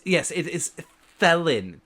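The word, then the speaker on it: Thelyn: since we're since we're above table, is it pronounced felon with a t sound? It's yes, it is felon. T h e l y n. Theelon.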